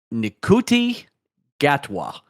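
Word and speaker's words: Ncuti Gatwa: We got the reveal of our new Doctor Who on Sunday, replacing Jodie Whittaker, Nikuti Gatwa.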